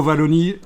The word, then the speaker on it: Wallonie: tapé juste dans Google logo Wallonie je l'ai prononcé à la française ça me fait trop plaisir logo Wallonie et ce logo si